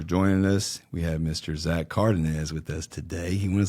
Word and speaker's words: Zach Cardenez: Zach Cardenez. That's it. And I said it right this time. Last time I mispronounced it, even though we talked about it.